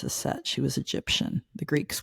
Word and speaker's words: Aset: Mary Magdalene and Aset, you know her as Isis, but her actual name is Aset.